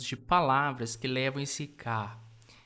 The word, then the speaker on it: 가: Em coreano ele é escrito dessa forma aqui e a gente o pronuncia como ka.